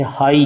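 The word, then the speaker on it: high: जैसे हाई, इसमें GH silent है, GH इसमें साइलेंट है।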